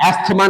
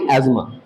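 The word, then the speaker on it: asthma: एस्थमा नहीं, एस्मा, दोनों मतलब प्रोनाउंसिएशन एस्मा होता है, एस्थमा नहीं।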